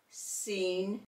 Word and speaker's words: scene: SC, C is silent. We're going to hear the S in scent, scene, science.